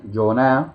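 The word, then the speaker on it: יונה: un personaje que nosotros conocemos en español como Jonás, y vamos a descubrir que Yoná, que es la pronunciación en hebreo, significa paloma en hebreo.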